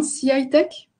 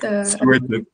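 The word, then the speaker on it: CY Tech: Alors, je ne sais pas si je prononce correctement, CI-Tech? Vous le dites CYTech. CI-Tech. CYTech.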